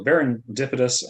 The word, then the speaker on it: Baron Dipitous: your name baron yeah it is um yeah it's based on the word serendipitous ah okay so berendipidus uh is going to